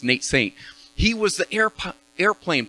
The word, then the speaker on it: Nate Saint: it nate nate saint nate saint he helped me remember because it rhymes nate saint he was the air